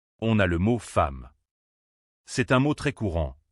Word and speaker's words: femme: Alors, il faut le prononcer comme un e muet, un peu comme dans le mot le. C'est un son très bref, presque imperceptible. Femme.